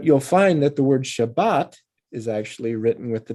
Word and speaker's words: Shabbat: But you'll find that the word Shabbat is actually written with the Dagesh, Shabbat.